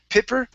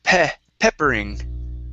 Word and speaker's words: peppering: Instead of pipper, it's peppering. Peppering.